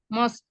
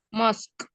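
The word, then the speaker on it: mosque: sugar to the m mosk ya bacanya bukan MOS gimana mosk mosk ya mosk my mother 2.45 kg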